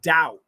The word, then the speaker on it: doubt: have to recognize that the word doubt d-o-u-b-t the OU is a a combination vowel ow okay the B is silent don't worry about the B doubt d-o-u-b-t so these